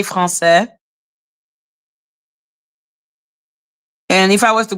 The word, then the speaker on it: Français: Yeah, you say French, we say Français.